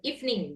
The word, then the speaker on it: evening: Jadi, Teman-teman bukan bacanya evening tapi evening. Even ya. Ya, dua silabel evening gitu bacanya gitu ya.